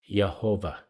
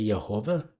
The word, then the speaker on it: Yehovah: And if you read it with the way the vowels are in there now, it would probably be pronounced Yehovah.